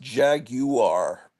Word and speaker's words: Jaguar: it's a Jaguar I I don't think you should have that extra syllable in there really it's like uh